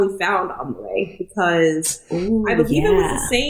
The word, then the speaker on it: Amaarae: Amaarae.